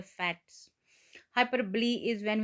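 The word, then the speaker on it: hyperbole: करेंगे तो हम आगे बढ़ेंगे इसको इसकी पहले प्रोनाउंसिएशन देखेंगे इंग्लिश में क्या है यह है हाइपरब्ली हाइपरब्ली ओके तो डेफिनेशन है इसकी तारीफ है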